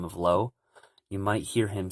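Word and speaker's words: Lauj: hear him say and so low is is spelled l a u j but you might notice that he's not saying he he's he or she is saying low as if it's just an O uh you'll hear that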